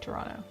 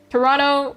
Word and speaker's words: Toronto: Which is why I like Toronto. Toronto is N-N-O. It's spelled N-T-O, but we pronounce it N-N-O. This is the true Toronto way.